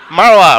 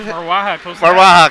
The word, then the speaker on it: Marwaha: And joining us tonight, our other team of announcers, Tim Sirota and Marwa, right? Did I pronounce that right? Marwaha, close enough for television.